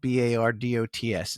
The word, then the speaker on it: Bardots: And that Bardos is spelled Bardots. It's Bardots, but it's pronounced Bardot.